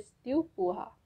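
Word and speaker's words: tu pourras: The second one इज you will be able, which will pronounce as त्यू पुहा, त्यू पुहा।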